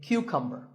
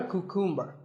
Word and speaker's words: cucumber: now this is a cucumber it's not a cuckoo mer think of it like saying the letter Q and then cumber like number so